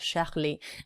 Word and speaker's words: Charlie: So they've got Où est Charlie? Où est Charlie? Where is Charlie? Où est Charlie? And we know, don't we, that the CH is a sh sound in French.